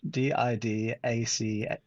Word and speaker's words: Didache: Didache, Didache.